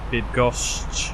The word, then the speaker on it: Bydgoszcz: Okay, that's gonna be Bird goes. I don't know how to say it. See if I can get a way to say that. Bydgoszcz.